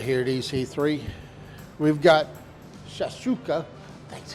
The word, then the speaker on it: shakshuka: We've got Shakshouka, That's how you pronounce it.